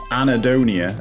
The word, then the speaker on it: anhedonia: part of depression called anedonia now it's pronounced anadonia as if it's like some person called anna and their surnames donia but it's print it's